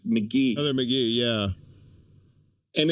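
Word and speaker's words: McGhee: I believe it's Heather McNee. I'm looking it up right now. I gotta spell it out of my head. Why is there Heather McGee, not McNee, McGee.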